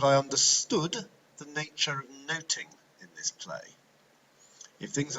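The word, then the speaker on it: nothing: of the title that of noting much should do about noting as the play would have been pronounced to note is to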